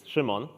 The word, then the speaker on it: Szymon: So I'm Simon, or if you are brave enough, you can try pronouncing it in Polish, which is Szymon.